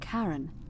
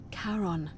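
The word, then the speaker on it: Charon: it's just as you described it only your pronunciation is a little off the name you heard wasn't Karen it was c h a r o n as in karon the Fairman of the Dead karon who in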